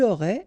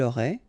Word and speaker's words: aurait: Il aurait, elle aurait, final T not pronounced, so phonetically exactly the same form here.